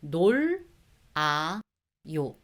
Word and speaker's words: 놀아요: 놀, 아, 요.